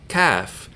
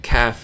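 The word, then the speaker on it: ك: of a word so the difference between cough and CF is that cough is the emphatic or dark sound and CF is the lighter sound just like Sal is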